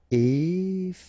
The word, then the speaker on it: effrayant: Effrayant, okay, so final T not pronounced, and then you get effrayant, okay, effrayant.